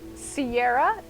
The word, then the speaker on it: Ciara: irish because number one my name though is pronounced sierra is spelled like the irish name kira c-i-a-r-a but in you know